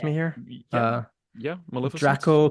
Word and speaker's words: Draco: Draco, kind of like Dracula.